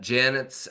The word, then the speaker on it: Yanet: at yanet Janet right pronounced Janet but with a Y right y a NE